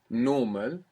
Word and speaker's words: normal: What do you notice different between normal and normal? The way it's pronounced. Well, the accent. What do you mean by the accent? Where the sound is stressed. Good. Which vowel it's stressed. Where's it stressed in English? On the O.